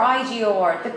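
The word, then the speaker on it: Егор: No, because in Russian, his name pronounced as Igor. Igor. Yeah, but if you write it in English, it starts with E and then everyone pronounce it as Igor, but Igor is another name, different, which is normally spelled I-G-O-R.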